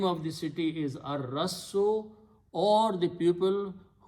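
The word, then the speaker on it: الرَّسِّ: And al removes one dhamma, so it becomes al Rassu, but in the tajweed, Ra is the Shamsi letter, so lam is not pronounced. It is pronounced as ar-rassu.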